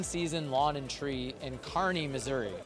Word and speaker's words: Kearney: Lawn and Tree in Kearney, Missouri. Did I say it right? You did. You got it. We have a Rambler, Kristen, from Kearney, Nebraska. Yep. So there's same pronunciation.